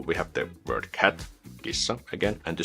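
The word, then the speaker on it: kissa: example the word gissa gissa a cat and we pronounce it by just combining all the different Unique Sounds together something like G which just have to prolong the S because it's double s or if we take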